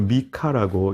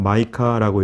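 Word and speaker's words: Micah: 이 미가라고 하는 말은 히브리어로 미카라고 이렇게 발음이 되는데 그 뜻은 누가 여호와와 같으신가 그런 뜻입니다. 누가 여호와와 같으신가. 영어로는 마이카라고 이렇게 부르고 또 우리말로는 선지자 이름 그대로 미가라고 이렇게 명명되어 있습니다. 요즘 저희가 살펴보는 선지자들이 대략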